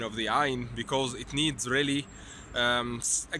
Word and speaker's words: ع: Imagine you are suffocating, and if you are suffocating you will say ah. So this sound corresponds to the Ain. So it's difficult to pronounce in real life, but if you are feeling suffocated, you will pronounce the Ain.